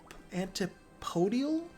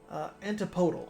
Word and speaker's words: antipodal: Antipodial? I think that's how you say it. Antipodal. Okay. I was close.